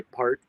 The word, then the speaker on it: Peart: know all those years I would say Neil Peart and some people say part and sambal some people place a parrot but it speared but